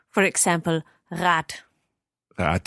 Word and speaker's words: Rad: Yes, it's when it is a short vowel before the last consonant, then the consonant has a hard pronunciation. For example, Rad.